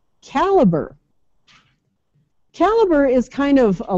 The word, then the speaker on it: Calibre: uh it's it's it's not Calibre I watched the video by the developer and he called it Caliber Caliber and he also spells